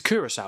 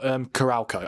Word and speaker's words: Curaçao: Did I just say Curacao? It's Curacao, isn't it? Yeah, it's not Curalco. I used to keep calling them Curalco, but no, that is not how you say it.